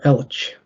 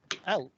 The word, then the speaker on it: Elche: Elche.